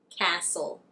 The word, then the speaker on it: castle: If you see a word that ends in stle, it would be right to assume that the T is silent. Let me give you some examples. Whistle, wrestle, apostle, castle, thistle, hustle.